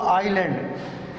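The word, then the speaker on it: island: एस में जो है एस इज़ not pronounce before L इन the following words. देखिए ये 2 मशहूर वर्ड्स हैं। इसको आइलैंड यानी कि जजीरा कहते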